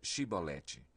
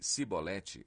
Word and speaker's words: Shibolete: Se respondesse que não, diziam: Então diga Shibolete. Se ele dissesse Sibolete, sem conseguir pronunciar corretamente a palavra, prendiam-no e matavam-no no lugar de passagem do Jordão.